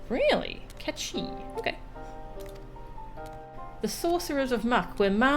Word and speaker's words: Mhach: It's pronounced Catchi. Really? Catchi.